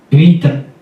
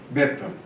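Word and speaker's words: βήτα: Vita. vita. Veta. Beta. Tá? Beta. Geralmente a pronuncia beta. Na UFRJ nós estudamos o grego e a pronúncia desse eta é geralmente aberta.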